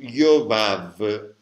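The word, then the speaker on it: יובב: La Bet, insomma, se c'è un puntino che si legge B o se non c'è un puntino che si legge V.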